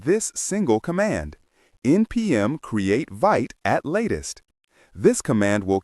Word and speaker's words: Vite: Today, the officially recommended tool for starting a new react project is vit pronounced vit.